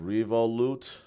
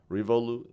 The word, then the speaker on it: Revolut: It's pronounced Revolut. Is that what? Is this like a French name? I guess that's right. Yeah. Revolut. That sounds French, but somehow it's a UK-based bank.